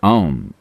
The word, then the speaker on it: ॐ: आम मंत्र में 3 आवाजें हैं, आ, ऊ और म। ये आ, ऊ और म जब आप इसका उच्चारण करते हैं तो उन्हें लगभग बराबर होना चाहिए और आपको नाभि के